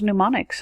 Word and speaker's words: mnemonics: Why is mnemonics so hard to remember how to spell? The M is silent at the beginning.